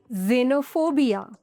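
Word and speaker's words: xenophobia: Nash rule number 10 pronounce x एज ज़ एट the beginning of a word for example xylem xylophone जेनोफोबिया there are एक्सेप्शनंस फॉर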